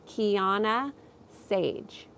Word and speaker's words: Kiannaa Sadge: I live in California how do you say my name you say my name Keana Sage Johnny says um this